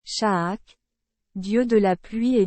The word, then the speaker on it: Chaac: shaak dieu de la pluie et Dieu du tonner shaak prononcé shak était très respecté par